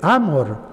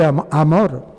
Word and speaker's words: Amorth: porque aquí en España allá en Roma se dice Don gabriele amor Ah el acento en la a pero aquí en España decimos Don Gabriel Amor amor amor sin la H incluso sin la H